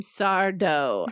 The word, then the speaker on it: Sardo: His name is Jim Sardo. Accent on the dough.